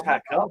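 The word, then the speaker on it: Hacker-Pschorr: Yeah, I think we're still saying it wrong. Yeah, I think I'm saying it. Yeah. Because their People pronunciation I think are a little bit more phonetic. Like a 4. I'll put it in the. It's hacker. It's a cracker.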